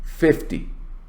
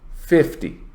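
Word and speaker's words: fifty: now when you have a number that is in uh that is based on tens like five zero you stress the first syllable notice 50 50.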